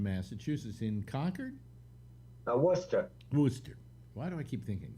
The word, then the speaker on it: Worcester: think no it isn't it's spelled w-o-r-c-e-s-t-e-r oh okay and that comes out to worcester okay and the other